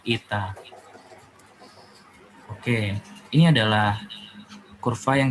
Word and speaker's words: eta: n tapi ini adalah huruf H Yunani nih bacanya Ita Oke ini adalah kurva